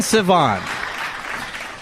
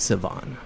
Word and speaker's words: Sivan: name I always say it's like idiot savant without the tea were